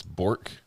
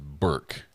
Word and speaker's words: Bork: It's Bork. It's pronounced Burke. Burke. That's how it's pronounced.